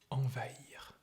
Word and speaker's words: envahir: You see, there is the nasal vowel sound, en, en. And then you have va-ir, and an H is between these both, or these two syllables. So you have to pronounce them separately, like envahir, envahir, envahir.